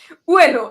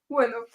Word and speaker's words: Ueno: Ueno. I always say it wrong because all the English speakers say it wrong. Ueno.